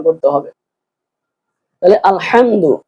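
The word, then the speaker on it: الحمد: উচ্চারণ করতে হবে তাহলে আলহামদু এখানে হবে বড় হা আলহামদু হামি জবর হাম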